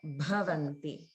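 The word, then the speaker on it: भवन्ति: So in this line, notice the Mahapranas in bhaksham, bhaksham, and then bahudha, dha, and also bhavanti, bhavanti. Okay.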